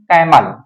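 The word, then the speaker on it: camel: निकालेंगे for example जैसे आप बोल रहे हैं कैमल तो अब यहां पर इसका साउंड हम का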